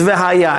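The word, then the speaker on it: והיה: Over here the order is a little bit different, and it can be pronounced as V'haya, and if will, or.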